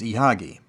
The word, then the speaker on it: Ihagee: by the acronym IHG which when pronounced in German is ihagi and that's the name you'll see associated with most Exacta cameras the historical significance of ihagi can't be understated as